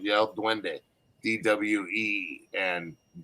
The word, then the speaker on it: duende: is how it's spelt it sounds like like yellow dwende d-w-e and and d